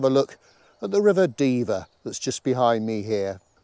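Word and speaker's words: Dever: the river it's called the diva d-e-v-e-r rhymes with beaver a lovely little well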